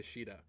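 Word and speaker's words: Shiida: liking to Sheeta yeah she de is like the standard pronunciation it's the Japanese pronunciation in warriors though I did notice that they went with the whole Caesar pronunciation Sita I don't really like that it's kind of weird I get it but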